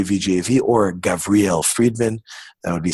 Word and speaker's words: Friedman: exactly Gavriel freed minutes Friedman I'll give it to you as fried man you go back to